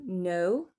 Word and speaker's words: know: Le K N en début de mot, on ne prononce pas du tout le cas, il ne sert à rien. Knife to know, to knock.